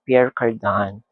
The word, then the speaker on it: Pierre Cardin: Pero they pronounce it Pierre Cardin.